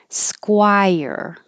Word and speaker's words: Squire: Squire. SKW, round your lips.